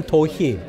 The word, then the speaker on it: Do-hee: But no matter what it is, it's pronounced the same, Do-hee.